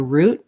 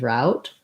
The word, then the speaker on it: route: mailman is on his route then we might use more of the route pronunciation versus if i'm saying i'm on the way i might use more of this french i'm on route so probably that's what you're